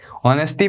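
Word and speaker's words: honesty: है नेटी के ऑनेस्टी ऑनेस्टी pronounce होता है ये एच के साथ वोल के हो तो मतलब एच साइलेंट हो जाता है तो हिंदू उन्होंने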